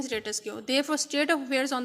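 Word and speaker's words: status quo: अब ये स्टेटस को है वर्ड, आपने इसको किस तरह प्रोनाउंस करना है, स्टेटस को, नॉट स्टेटस क्यू, इट्स स्टेटस को।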